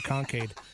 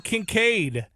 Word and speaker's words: Kincaid: I'm going to go with Dalton Kincaid. I almost did butcher it. I called him Concade. Dalton Kincaid.